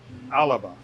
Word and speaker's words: Alba: So, so like the Scottish word for where they live, Scotland, is alaba, but it's spelled Alba.